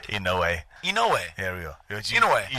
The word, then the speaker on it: Inoue: You say his name wrong. Inoue's not right? That's not right? Inoue. Inoue.